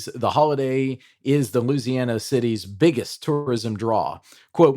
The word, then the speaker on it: Louisiana: Not Louis. How did you say it? Louisi. I don't even know how you said that word. How do you say it, Brent? Uh I say it like a nativeborn son of the south.